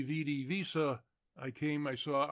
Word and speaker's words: Vidi: The Britons, however, who of course still use the old pronunciation, understanding him to have called them weenie, weedy, and weaky, lost heart and gave up the struggle.